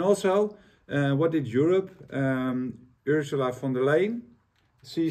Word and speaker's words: von der Leyen: And also, what did Europe, Ursula von der Leyen, she said, do I pronounce it?